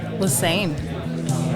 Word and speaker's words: LeSesne: LeSesne. LeSesne? LeSesne, like the river.